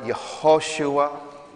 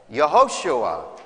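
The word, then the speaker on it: יהושע: In Hebrew, how he would have actually been called, Yehoshua. That's Joshua. Notice how verse 21 concludes, for it is he who will save his people from their sins. Yehoshua, Joshua, Jesus literally means the Lord saves.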